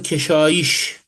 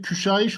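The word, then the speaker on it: küşayiş: Arzı keşiş. Arzı küşaiş olması lazım.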